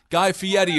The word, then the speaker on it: Guy Fieri: Guy Fieri, of course, is how you pronounce the name.